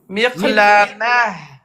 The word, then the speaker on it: مقلمة: Ta, je répète, se prononce comme ha. Ha de hello. Ha, il y a de l'air qui sort. Miqlamah.